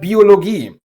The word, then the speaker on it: Biologie: Or take the word Biologie. Every vowel here is long, probably because it's not a Germanic word, but my guess is as good as yours.